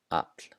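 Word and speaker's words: afl: So it sounds like a P before the letters L and N. So here are some examples. The first one, skopla, skopla. Hafna, hafna. And the last one, apl, apl.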